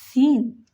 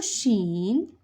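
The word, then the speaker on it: شين: Yes, Shin. This is the articulation point of Shin. And for Shin is pronounced from the middle of the tongue.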